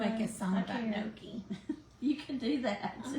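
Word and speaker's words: gnocchi: no I want to make a song about Noki you can do that I mean yeah it's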